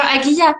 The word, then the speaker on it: Aguia: même c'est ça mais Agia c'est bien aguya que ça se prononce AG oua ouais AG